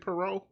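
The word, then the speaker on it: Poirot: pero pero is it pero yeah the t is silent the te is definitely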